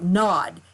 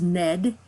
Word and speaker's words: Nad: so it looks like nod you know because we're Americans and we don't know how to do our vowels but it's actually pronounced Ned and it comes from the Sanskrit but what these two